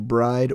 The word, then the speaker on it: BRIDE: Walk uh you got your bride or brid I've heard it pronounced both ways uh your other Liberty